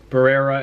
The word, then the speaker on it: Barrera: not a big deal you know marco antonio browse eric morales those um those fights those fights happen did i say it right marco antonio barrera and eric morales those are all fights that